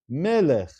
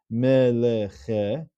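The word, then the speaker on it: מֶלֶךְ: It's not pronounced as meleche, which would be a shavana, but it's melech. It closes off the syllable, it closes off the word.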